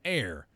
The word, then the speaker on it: heir: is actually spelled so we say an honor an hour or an heir for example cuz the initial letter H in all three words is not actually pronounced by contrast we say